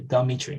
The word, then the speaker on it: Dmitri: borrowed into these dialects a schwa is inserted between the consonants so for an example it would be like a russian named dmitri um the meat tree